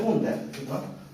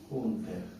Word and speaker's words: Hunter: el anillo de Hunter se escribe junter junter ya no se utiliza como le dije pero por aco no el anillo de Hunter que es el anillo